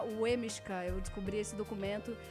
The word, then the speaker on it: Leminski: E efetivamente se escreve Lemiska, mas em polonês se pronuncia Wemishka.